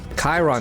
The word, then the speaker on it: Chiron: Sharon or Chiron? Chiron, that's how you say it.